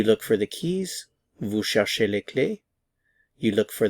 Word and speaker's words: cherche: These forms are all pronounced the same.